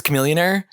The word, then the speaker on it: Chamillionaire: from the early 2000s Chamillionaire sure B billionaire rhymes with Chamillionaire I'm pretty sure there